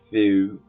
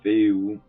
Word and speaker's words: Fehu: La rune fus se prononce généralement fou fou ou féou ou feu. Son son correspond à la lettre F.